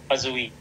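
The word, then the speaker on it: Poiseuille: the ha and then ang pronunciation dito is pazi Okay so hagen pazi Okay medyo mahaba ung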